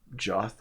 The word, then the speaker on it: Joth: There are 3 of them, Garth, Joth, I think, and Volden, or Yoth. It might actually be a J, but pronounced Yoth.